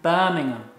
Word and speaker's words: Birmingham: Repeat, Birmingham. Birmingham. Birmingham. Birmingham. Yeah, some Americans say Birmingham. Oh no!